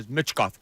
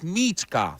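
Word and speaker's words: Michkov: say it right I I don't want to know mitkov no it's mechkov you say it well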